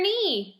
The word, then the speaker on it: knee: of your body mmm your knee just like on your leg you have your knee and it is a silent K at the beginning of that word alrighty our next silent